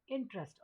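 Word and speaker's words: interest: इसीलिए बच्चे इंटरेस्ट की स्पेलिंग बहुत गलत लिखते हैं, क्योंकि इसको लिखा जाता है, बोलते हैं हम इंटरेस्ट और लिखते क्या है, इंटीरेस्ट, तो ई को गायब कर देते इंटरेस्ट।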